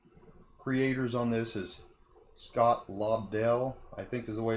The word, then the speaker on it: Lobdell: Looks like the creators on this is Scott Lobdell, I think is the way it's pronounced, Mike Johnson, Kenneth, I think it's Rockefort, Aaron Cooter, and Eddie Barrows.